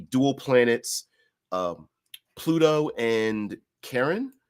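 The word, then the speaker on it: Charon: planets um Pluto and Karen I believe it's it can be pronounced or Sharon or whatever uh Pluto and there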